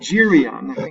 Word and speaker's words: Geryon: his task G dude girion its giri on here's the pronunciation down here giri giri honor Geryon giri on a monster with three